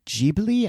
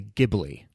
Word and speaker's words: Ghibli: of the ghibli films is it ghibli or jeebily i never knew how to pronounce that i think it's actually ghibli ghibli let us know wolfie